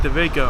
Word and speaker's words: Dawejko: It's Dawejko, actually. It's pronounced Dawejko.